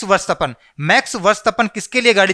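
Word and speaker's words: Verstappen: वास्तव ने वर्ष तपन इसका सही उच्चारण होगा मैक्स varshgaan मैक्स varshgaan किसके लिए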